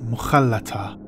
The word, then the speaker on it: Mohalata: Mohalata. This word in Arabic, Mohalata, is pronounced Mohalata.